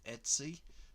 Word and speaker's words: etc: the etc folder, or the etc folder, however you want to pronounce it. I think Magento people actually pronounce it on the tutorials, pronounce it Etsy, which is pretty cool, but I'm not going to be cool. I'm going to be me, and I'm going to say etc.